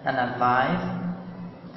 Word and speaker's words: analyze: هنا analyze الواي هنا بتتنطق اي، انما هنا بتقول analysis معناها تحليل.